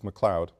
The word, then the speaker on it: McLeod: Mary McLeod Bethune, and the spelling is correct and the pronunciation is correct, it's McLeod.